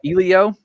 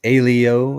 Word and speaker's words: Elio: It's called Ilio, which technically it's Alio is how they say his name in the movie, but yeah, we're going to see why Elio is closer to the truth.